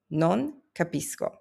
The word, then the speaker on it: non capisco: Notice the C before the A. That's a hard K sound because the C before E and I rule only applies before those two specific vowels. Before anything else, C is always hard.